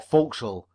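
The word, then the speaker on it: forecastle: is soon known in the for Castle or folkal as the sailors pronounce it consequently it was not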